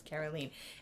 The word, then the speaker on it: Caroline: That's how she pronounc they pronounce it in French is Carolene.